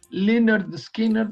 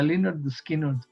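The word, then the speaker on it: Lynyrd Skynyrd: nombre el nombre del disco se se llamaba Pronounced Linard Skinner, o sea, con que la descripción gráfica de cómo se debe pronunciar el nombre de la banda Linard Skinard.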